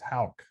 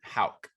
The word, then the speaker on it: Houck: if you're listening to this john it's not hook it's hauck john houck like h like it said it's pronounced like h a w hal regardless he